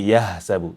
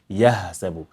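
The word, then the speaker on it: يحسب: So you have to stress in the point of articulation for it to differentiate, to stand out from ha. Don't say yahsabu. Yeah. See, you can hear how bigger it is. Yahsabu. Whereby here it's supposed to be, it has to be, not supposed to be, it has to be. Yahsabu. Yahsabu anna malah. Anna malah.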